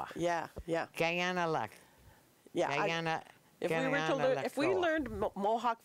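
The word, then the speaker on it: Kaianere'kó:wa: you say it Janelle I believe it's the Guyana let Goa yeah yeah Guyana luck yeah if we learned Mohawk phonetics we would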